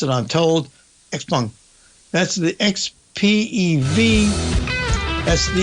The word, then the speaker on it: XPeng: And then XPeng. That's how you pronounce it, I'm told. XPeng.